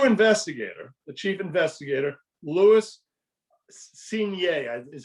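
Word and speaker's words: Cuignet: all the new investigator the chief investigator louis senior is how it's pronounced c-u-i-g-n-e-t quickly discovered if you remember the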